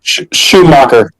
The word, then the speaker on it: Schumacher: recently was um the the Joel Shoe Joel Shoe Maker. Uh, oh my god, how do you say his last name? Shoeacher.